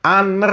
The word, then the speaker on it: Honor: Ini bacanya Honor ya, kayak bahasa Inggrisnya honor, bukan honor gitu ya.